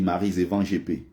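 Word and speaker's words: Maryse Ewanjé-Épée: Mais les Français prononcent ça, et elle-même, hein, dans l'émission, elle n'arrivait jamais à rappeler aux gens que c'est pas comme ça son nom. On dit Maryse Evan GP.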